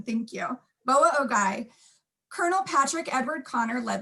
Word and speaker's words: Boa Ogoi: On January 29th, 1863, at the Northwestern Shoshone village, Boa Ogoi, had to practice that one to make sure I had that right pronunciation, thank you. Boa Ogoi, Colonel Patrick Edward Connor led the 3rd Regiment